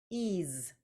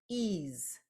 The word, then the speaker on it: ease: So I hear two sounds, ease. So I have the EA coming together, as we know it does, to make a long E sound. And then I have a Z sound that is coming from an S.